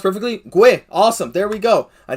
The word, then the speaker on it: Guhle: Pronounced perfectly. Guhle.